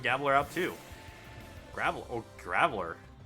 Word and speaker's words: Graveler: out too gravel oh graveler oh geez i'm pronouncing it wrong that pronounced it like gaveler why did i do